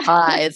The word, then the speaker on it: Therapize: Now, you also wrote a book, Therapize Yourself. If I'm pronouncing that right, Yeah, therapize.